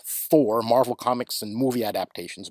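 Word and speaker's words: Thor: patch is in the four pronounced Tor originally but in English four Marvel Comics and movie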